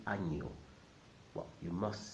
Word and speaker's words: año: Año. Año. Año means year, and the letter in the middle is not an N. It's called ñ, and makes that sound ña, ña, ña.